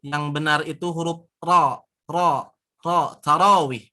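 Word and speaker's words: تراويح: Tarawih, bukan taraweh, tapi tarawih.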